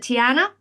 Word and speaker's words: Tiana: Princess, is it Tiana?